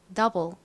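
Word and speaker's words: double: 두 배 따라해 볼게요 더블 더블 좋습니다 펜 들고 같이 써 볼게요 자 더 부분은 디귿 소리 나는 디 이 그리고 어 소리 나는 유 다음 볼 부분은 와 L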